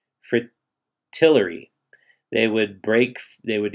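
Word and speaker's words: fritillary: seagull lily and frittata i think it's pronounced fri tillery they would break they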